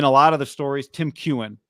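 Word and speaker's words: Tim Keown: Tim Kewen, thank you, is the pronunciation.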